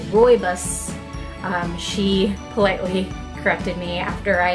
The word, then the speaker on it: rooibos: a hug I had said that it was rude boys or something and the ingredients and I had